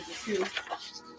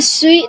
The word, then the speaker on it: Sioux: Sioux. The Sioux. Lakota Sorry. Sioux. That's our tribe. Lakota Sioux. That's a weird way of spelling it. Does X is silent? Yes. It's French, actually. It's a French word.